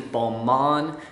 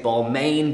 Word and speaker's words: Balmain: probably be expecting and that is bomb on or as rappers like to say Balmain because then it actually rhymes with stuff but they invented biker